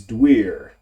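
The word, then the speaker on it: Duir: The old druid word for oak is Dwyer. D-U-I-R.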